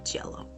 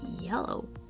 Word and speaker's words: yellow: Think of it more like an I Latina than an Y.